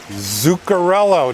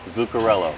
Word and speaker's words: Zuccarello: episode of Roller Skate Stories here with Rich Zuccarello. Did I get that right? You did. You did. Awesome. Good job. Can you spell that, by the way? It's Z as in zebra, Uccarello. Okay. Zuccarello.